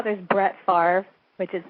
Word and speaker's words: Favre: There's, how there's Brett Favre, which is spelled Favre, which I love.